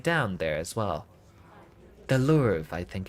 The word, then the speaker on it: Louvre: Louvre. Yeah, that was it. The R is silent because French is weird.